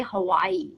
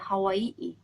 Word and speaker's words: Hawaii: know how to pronounce we say Hawaii right but in Hawaii they say Hawaii so how I write